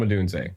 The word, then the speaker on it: Odunze: Brando's brand, as well as technology failures, is mispronouncing last names. I'm sorry. Can you say it for me? Rome Odunze? Rome Odunze.